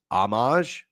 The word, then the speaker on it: Homage: The ho in homage is pronounced ah Columbus company. Oh, okay. So it's Amage.